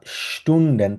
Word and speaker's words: Stunden: আর স্টুন্ডেন তালিব্বাসের মতো উচ্চারণ করি আমরা কখনো।